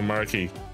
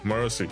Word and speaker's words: Marcy: Is it Marcy or Marky? Huh. Hi there. I'm good. How's you doing? How do you pronounce it? Oh, Marcy. Okay, I was right. Like Mercy.